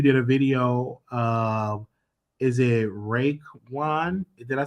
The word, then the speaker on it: Raekwon: Is it Raekwon? Did I say it right? Raekwon, yeah.